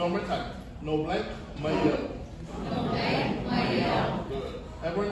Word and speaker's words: mai au: Yeah, so we want to glide it together so that you're saying the proper pronunciation and the proper translation. So one more time. No blank mayo.